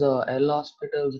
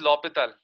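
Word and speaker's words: L'Hôpital: Sir, can you use L'Hospital's rule even if there's like mod and all? See, first of all, the pronunciation is L'Hopital.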